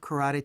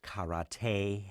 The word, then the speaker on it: karate: the whole point of karate to kick each other actually it's pronounced karate and there's a lot